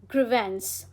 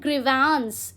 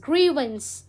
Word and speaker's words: grievance: Okay, next word is grievance. How do you pronounce? It's not grievance, it's grievance.